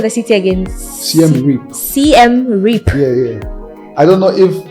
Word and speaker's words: Siem Reap: Siem Reap. Yeah. I don't know if I'm pronouncing it like correctly, but that's how they pronounce it.